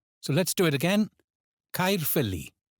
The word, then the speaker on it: Caerphilly: Caerphilly. Caerphilly. Famous for its cheese and also its magnificent castle. Here the stress falls on feel. So let's do it again. Caerphilly.